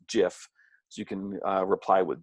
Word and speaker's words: GIF: you can communicate with most people call them gifts but it's actually pronounced jiff so you can reply with gifs you can